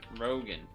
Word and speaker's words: Rogen: Add to cart game set match actor Seth Rogan who pronounces his last name the same as Joe Rogan but spells it different.